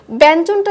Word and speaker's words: ব্যঞ্জন: ব্যঞ্জন, যেটা আমরা বেশ কয়েকবার উচ্চারণ করে ফেলেছি এর আগে, ব্যঞ্জনটা যদি আমরা লক্ষ্য করি যখন ইওর সাথে জ যুক্ত হয়েছে তখন সেই ক্ষেত্রে কিন্তু উচ্চারণের সময় ব্যঞ্জন, অর্থাৎ ন চলে এসেছে ইওর পরিবর্তে।